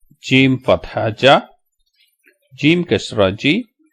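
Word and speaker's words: جيم: So the letter is called Jim. There is no A sound at the end.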